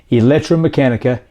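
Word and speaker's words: ElectraMeccanica: i am talking about is the ev company electromechanica and yes that is how you say it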